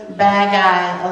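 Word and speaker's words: bagay: thing is bad guy which kind of sounds like us saying bad guys yeah well he said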